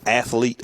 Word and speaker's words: athlete: You can also vote on this week's Athlete of the Week. That's athlete. That's 2 syllables. Yes. I want to tell the television stations It's 2 syllables. Not athlete. Not athlete. Athlete. It's athlete. That's like nuclear.